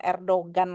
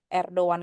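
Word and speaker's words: Erdoğan: apa tapi gak dibaca jadi ini bacanya gimana teman-teman erdan erdan ya bukan Erdogan lagi untuk teman-teman udah ngerti jadi bacanya erdoan karena bisa dimengerti eh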